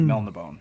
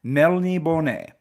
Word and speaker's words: Melniboné: I never pronounce it properly when I'm in my head when I'm reading it. I just think Melnibone, right? But it is Melniboné. Don't know why. I've heard people say Melnibone, but I don't think